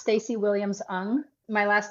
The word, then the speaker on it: Ng: do absolutely I am at my name is pronounced Stacy Williams un my last name is Williams hyen NG and it's because my Asian husband has an unusual name but it's pronounced un and so you can find me on Instagram at stacy.